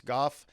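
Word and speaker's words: Gough: this fella attorney go g-o-u-g-h i think is how you spell it or guff or something like that goss goff is how he pronounces it and he was in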